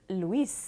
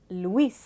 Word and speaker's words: Luis: séparément dans les mots si votre nom c'est louis en français en espagnol ça va être luis luis étant donné que le s même si à la fin du mot on va toujours le prononcer l'espèce vraiment cela l'aidera